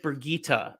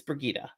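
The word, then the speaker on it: Birgitte: take it back which is why I said bergita earlier by the way I looked up the pronunciation it is it's brigitta woo fit indication validation all those wait wait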